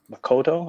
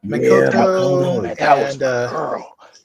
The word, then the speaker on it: Makoto: I just man that's when they introduced uh Makoto I think how you say her name yeah Makoto that that was my girl have you seen